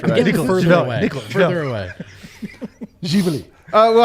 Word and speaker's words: Živeli: Okay, first of all, it's Živeli. Živeli. Okay, Živeli. nobody here should be able to Živeli. pronounce that. Say it again. Don't make it long. It's Živeli. Živeli. So there's like a different emphasis.